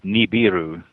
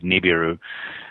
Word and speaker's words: Nibiru: Yeah, the pronunciation that I'm used to is Nibiru, with the B first instead of the R.